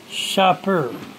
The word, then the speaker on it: Sharper: Anyways, the classic game, vintage game, by Sharper. Pronounced Shopper.